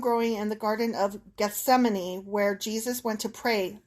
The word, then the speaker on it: Gethsemane: Pronunciation. Gethsemane.